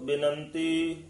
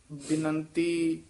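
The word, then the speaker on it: ਬਿਨੰਤੀ: वस्त एक मांगाओ करो बिनंती मान त्यागाओ कराओ बिनंती ये पद जेड़े ना करो बेनती इस तरह नहीं कहना बिनंती दे सहारी लगी है बेनंती ला नाल नहीं उच्चारण करना त्यागो नहीं कहना त्यागाओ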